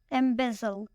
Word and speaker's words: embezzle: Embezzle. This word has 3 syllables and the stress is on the second syllable.